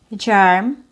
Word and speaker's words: germ: So we don't want to say je, germ, te, term, or me, merge. So it's not a short E sound, it's a schwa+r.